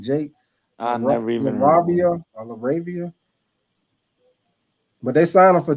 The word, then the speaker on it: LaRavia: Jake Laravia. Who? Jake Laavia. His last name spelled L A R A V I A. I guess that's how you pronounce your name. Jake I never even laravia, but they sign him for two year 12 million.